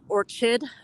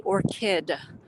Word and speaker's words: orchid: And I know some people are pronouncing it orchid with a CH, but it's actually orchid.